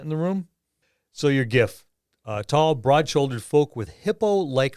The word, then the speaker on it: giff: Half of them say it with a hard G, half say it with a soft G.